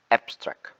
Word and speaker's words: abstract: when you say abstract when you say abstract as a adjective or noun the stress is placed at the first syllabi at the ap so it will say like abstract but when you say